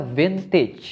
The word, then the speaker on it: vintage: dan By the way cara baca fintechs itu ternyata bintik pakai ia beach bukan pakai e qt selama ini saya